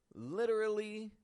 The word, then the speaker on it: literally: in an informal sense literally can be reduced in two different ways it can either be reduced to just literally literally it's subtle but I've taken out a syllable from the middle from literally literally literally